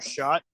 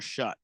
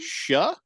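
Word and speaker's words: Shough: Yeah, Tyler Shot is probably who he's talking. Tyler Shot. Tyler Shut. Shut the Tyler. It's spelled weird.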